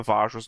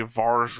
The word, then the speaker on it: Vajra: you've been saying the vajra's name wrong the entire time which is we put the r in the wrong spot oh you say Vara or something like VAR and it's vaj ra rra yeah it's the J